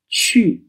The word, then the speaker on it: qu: q X and J the letter U is not pronounced but it's pronounced as an umlaut so we learned the word Chu spelled q u then